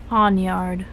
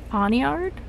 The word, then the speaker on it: Pawniard: Pawnyard. Say that again, please? Pawnyard? How do you like spell that?